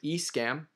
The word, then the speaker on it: Escam: I said it right, Escam.